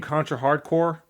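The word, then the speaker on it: Contra: Hard Corps: It's like the game Contra Hardcore. It's spelled Hardcorp. No, I don't know that game. All right, the game Contra Hardcorp, it's pronounced Contra Hardcore because that's a pun.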